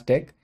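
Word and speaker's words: deque: in Java so next in line is the deck data structure so it stands for w ended q and it's pronounced as deck it is again a linear data structure that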